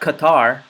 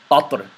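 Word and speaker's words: قطر: So it's not Qatar, but Qatr. Qatr is the correct pronunciation.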